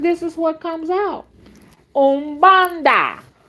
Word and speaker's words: Umbanda: Umbanda, pronounced Ombahdah.